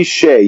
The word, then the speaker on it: Hsieh: Is it pronounced? Tony Hsieh, yeah.